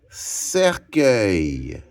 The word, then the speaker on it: cercueil: Et œil s'écrit E, U, I, L. Cercueil.